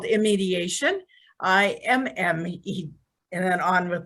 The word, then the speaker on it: iMediation: We call it iMediation, but a lot of people call it iMediation.